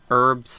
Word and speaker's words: herb: Let's grab these herbs first. Herbs. I think the British say herb. Like with the H.